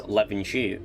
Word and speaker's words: Levenshulme: It pronounced it wrong with the AI voicing they used. It's Levenshulme.